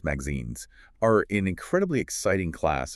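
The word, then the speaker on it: MXenes: Migazines, pronounced magazines, are an incredibly exciting class of two-dimensional inorganic compounds.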